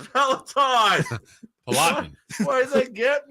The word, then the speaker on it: Peloton: It's Peloton.